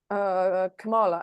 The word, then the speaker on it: Kamala: Why the big push for Kamala at this late stage. And I'll pull on her. And by the way, it's Kamala, not Oh, sorry. Kamala. I thought it was camel Someone toe.